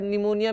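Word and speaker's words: pneumonia: जैसे इसमें नाइफ में के साइलेंट है, नी में के साइलेंट है, वैसे कई बार निमोनिया में पी साइलेंट रहता है।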